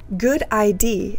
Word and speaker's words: GUDID: to identify medical devices good ID is how we pronounce gud the abbreviation for